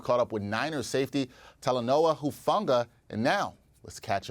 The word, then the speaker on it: Talanoa: up with Niners safety telenoa hufunga and now let's catch up with Steve about his latest q a Steve how's it going it's doing good you pronounced that perfectly talonowa very nice I I try